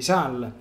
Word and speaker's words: Sales: san francesco di sal comunemente noto con come come san francesco di sales per il nostro vizio un po italiano di italianizzare i termini francesi però la pronuncia corretta a quanto ne so dovrebbe essere san francesco di sal quindi non pronunciando le ultime lettere comunque abbiamo capito di